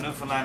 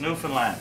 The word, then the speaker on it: Newfoundland: is intense and a Newfoundland a blue star is also a beer and it is pronounced Newfoundland not new found land or no Finland Newfoundland is the oldest